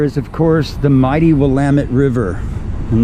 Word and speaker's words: Willamette: of course the mighty willamette river and that is how we pronounce the river's name willamette river like damn it to blame it and this river is